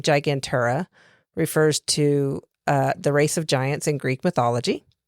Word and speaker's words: Gigantura: Gigantura tuni and gigantura indica. Gigantura as in gigantic.